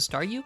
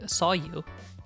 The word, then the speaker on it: Staryu: was still just a Staryu, I could never pronounce its name right. It always ended up sounding like saw you.